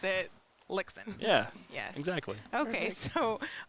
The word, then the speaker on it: Lichtsinn: here we go lixon like Dixon with an L yes yes I remember